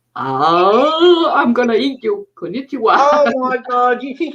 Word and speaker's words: konnichiwa: Um, And they got konnichiwa. I think is hello. that's the word I cannot pronounce.